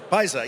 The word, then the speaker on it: Pyaza: Am I saying it right? I should have asked you before. Pyaza, yes, I thought so.